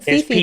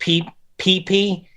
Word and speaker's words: Phi: I was saying Fifi, but it's Phi. It's pronounced Phi.